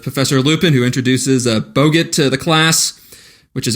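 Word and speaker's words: Boggart: it's a it's a bogit yeah Bogart like Humphrey yeah yeah RIT's with their stupid pronunciation there is an R in their back so you should use that are mmm I'm pretty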